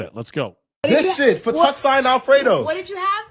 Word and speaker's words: fettuccine: This shit, Fettuccine Alfredo. What did you have? Fettuccine Alfredo. But why y'all laughing? Why are you laughing? Fettuccine Alfredo? How the Fettuccine? FedExin.